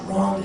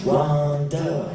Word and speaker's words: Rhonda: It's not Rhonda, it's Rhonda.